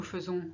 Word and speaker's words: faisons: Nous faisons, we do. Here we say faisons. We should pronounce faisons, but nobody does. We always say faisons.